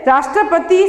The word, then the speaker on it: राष्ट्रपति: जैसे राष्ट्रपति शब्द का उच्चारण करते समय रा पर बल पड़ता है।